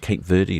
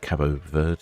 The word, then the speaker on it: Cabo Verde: Praia, Cape Verde or Cape Verde or Cabo Verde, depending on your linguistic pronunciations.